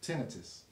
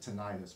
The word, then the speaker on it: tinnitus: been diagnosed with um tinnitus yeah or some people pronounce it tinnitus but it's yeah tinnitus so I have like a